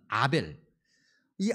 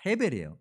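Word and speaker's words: הֶבֶל: 근데 반면 아벨, 이 아벨이라는 이름은 원래 히브리어 발음대로 하면은 아벨이 아니라 헤벨이에요. 그런데 아마도 70인역 영향 때문에 아벨이라는 발음으로 읽혀진 것 같은데, 어쨌든 아벨이든 헤벨이든 간에 이 동사가, 이 단어가 중요함을 가지고 있어요.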